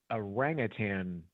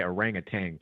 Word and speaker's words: orangutan: So they have this orangutan complex. I used to say orangutan, but I think it's orangutan. I think that's how you pronounce that.